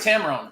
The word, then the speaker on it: Tamron: long time and but i always say tamarind and i don't know why it's tamron right taylor why do i